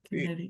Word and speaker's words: Connecticut: Where did this where did the C come from? Connect. Yeah, I had to think of it like connect, but you don't say it like you don't pronounce it. You don't say connect. It's Connecticut.